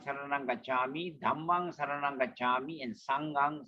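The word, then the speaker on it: gacchāmi: And the double consonant Gacchami. Buddhang Dhammang. Okay? Gacchami.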